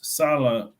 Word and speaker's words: sala: well, and then there's Sala, which is like work. Yes, two sala. Remember, sala. We don't write. There is no double A. This is just phonetic spelling, just to help us to pronounce correctly.